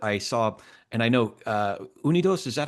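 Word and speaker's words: UnidosUS: Pew poll, but I saw, and I know Unidos, is that how you say it? Unidos US, yeah.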